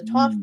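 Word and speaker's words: Thoth: tarot cards and so the deck that she had for us was the th deck or the Toof deck how you want to pronounce it and um John and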